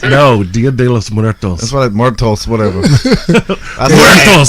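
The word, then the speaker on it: Día de los Muertos: Diaz de los Muertos. No, Dia de los Muertos.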